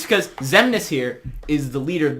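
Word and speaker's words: Xemnas: His name is the Zemnis.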